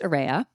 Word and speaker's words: Arraya: The term AREA, and it is pronounced AREA, reflects an array of all of our diverse learners, but also the array